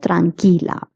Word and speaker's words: tranquila: The QUI in Spanish is pronounced as ki. Like QUE is pronounced as que, QUI is pronounced as ki. Tranquilo, tranquila.